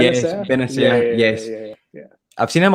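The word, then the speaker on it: Bennacer: Is it Benacer? Yes, Benacer.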